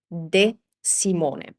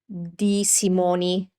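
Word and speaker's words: De Simone: It's a closed e sound. So, this is not dimony.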